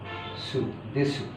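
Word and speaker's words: です: আর স হচ্ছে সু দেসু অতাসিয়া তানাকা দেশু তো দেসু লেখার সময় দেসু বাট বলার সময় দেস এরপরে আমি একজন এমপ্লয়ী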